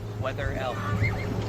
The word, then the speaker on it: Wetherell: Oh, then how do I say it correctly? Please educate me. Weather L.